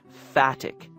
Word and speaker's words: phatic: And this is something that Austin calls phatic communication. It's spelled with a PH, P-H-A-T-I-C, phatic communication.